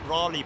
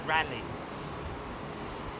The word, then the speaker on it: Raleigh: Bike company but uh it's not Raleigh Bicycles is it it's rally anyway anyway rally is not spelled l r rally bicycles it's spelled r EIG g h no Raleigh in the US in daring Dar is called it's it is spelled r is it not okay okay but okay out